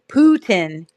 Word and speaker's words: Putin: Long U. I'm a reading teacher. Putin. Ooh, U. That's a long U versus puddin. Like book, which is a different sound.